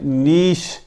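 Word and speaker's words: niche: N double E نی, ایس ایچ ش, شین, شین کی آواز دینی ہے اسے. این ڈبل ای نی اور یہ ایس ایچ, یہ شین کی آواز دینی ہے. نیش, نیش.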